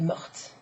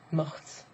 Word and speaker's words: morte: E at the end, which not only changes the spelling, but it also changes the pronunciation, right? So instead of mort, mon hamster est mort, he is dead, he died, you would say ma perruche est morte, morte, right?